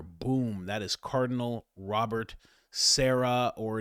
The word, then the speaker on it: Sarah: That is Cardinal Robert Sarah or it is pronounced Sarra.